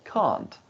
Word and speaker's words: can't: a minute but first did you notice the t sound at the end of the word can't no i don't think